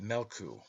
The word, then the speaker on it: Meolku: Therefore the sun is called Meolku, pronounced Melku, a greyhound.